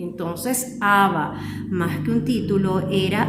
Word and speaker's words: Abba: decir papá, es decir, sin el acento en la segunda A.